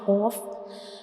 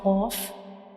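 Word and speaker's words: قاف: And when we pronounce cough, the very back part of our tongue will touch the soft palate, like cough, cough.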